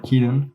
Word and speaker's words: Cianon: I think from my recollection, going to Avalon Pan with her friend, I was dating someone named Cianon, or Keaton, but it's spelled Cianon, like that.